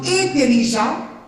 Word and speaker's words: intelligent: Et la EN suena como O, EN suena como O, IN suena como E. No van a decir intelligent, sino intelligent. En français, ça se prononce intelligent et en espagnol intelligent.